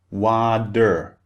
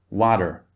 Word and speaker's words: water: It becomes water, water, a glass of water. Can you see the difference? So this is a feature of British English. The T sound is always very, very clearly pronounced.